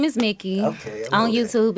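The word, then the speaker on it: Mikki: you spell that pronounced like mickey mouse spell m-i-k-k-i am i okay i'ma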